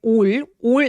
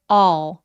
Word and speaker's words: all: 그리고 all the food 할 때 all 아니고요. 더 길게 all 이라고 발음해 주시면 정확해요.